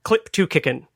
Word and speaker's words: clip2cicn: anyway, which was called clip2kickin. I think that's maybe where I got the pronunciation from, because it's weird to say clip2CICN, and it's not CLIP2CICN. It's clip like the clipboard.